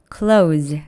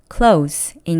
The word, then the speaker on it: close: 여기서의 close는 가까운이라는 뜻의 형용사니까 끝 S 발음이 z, close 아니고 s, close인 거 주의해 주세요.